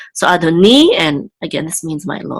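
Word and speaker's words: אֲדֹנִי: yud together say ni, and the accent again is over the nun, which means it's on the last syllable. So Adoni, and again this means my Lord.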